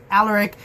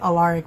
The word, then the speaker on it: Alaric: And then as he was walking away, he sees the werewolf, and then he sees Alaric. I kept pronouncing it Alaric, but Alaric, apparently.